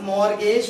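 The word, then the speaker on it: mortgage: यहाँ पे भी एक लेटर साइलेंट है स्टूडेंट्स, बताएं कौन सा, ये टी साइलेंट है, और यहाँ पे कौन सा लेटर साइलेंट था, बी साइलेंट था। इसको मॉर्गेज नहीं बोलेंगे बल्कि मॉर्गेज पेबल बोलेंगे, टी साइलेंट है, लिखा जाएगा, पढ़ा नहीं जाएगा।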